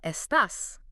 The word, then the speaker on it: estás: Foundational phrase number one, estas, which means how are you? Listen to that pronunciation again.